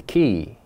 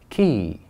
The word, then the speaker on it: key: 3, a key. A key. By the way, guys, listen very carefully. The correct pronunciation is not K. We don't ever say K. We always say key.